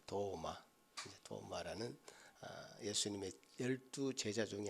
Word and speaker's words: 도마: 핵심적인 인물이 누구였죠 예 우리 식탁에 놓여 있는 도마가 아니고 발음은 똑같습니다 도마 도마라는 예수님의 12 제자